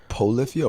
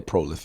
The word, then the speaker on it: Polyphia: Polyphia or Prolifia? Polyphia. But how you spell that? POLYPHIA.